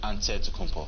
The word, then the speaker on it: Antetokounmpo: you pronounce it way you gotta say with the d so it's a deadpool but in the greek way you say with the nt like antetokounmpo whatever you got just